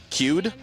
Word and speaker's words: Cude: well done with Deanne, how do you say the last name again? Cude.